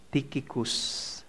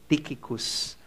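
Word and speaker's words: Tychicus: Colossans 4 7 to9 as to all my affairs tikicus yun po yata yung pronunciation mali daw po pala yungicus tiikicus our beloved brother and faithful servant and fellow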